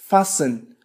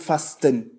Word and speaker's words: fasten: Fasten لا نقول fasten نقول fasten لا ننطق الحرف T.